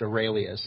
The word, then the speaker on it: Aurelius: So, but the last name is pronounced Aurelius. It's like Marcus Aurelius from 2,000 years ago from Rome. He was one of the Roman emperors.